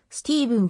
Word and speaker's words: Stephen: の一人である言語に近い発音はスティーブンであるが日本語の出版物ではステパノで統一されているシカゴ出身 1965 年